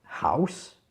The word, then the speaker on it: house: qui est pas courant c'est le hb souffler house ensuite la deuxième chose qui est intéressante c'est